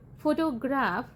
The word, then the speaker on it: photograph: In the word photograph, where does the primary stress fall? The answer is first syllable photograph ਦੇ ਵਿੱਚ।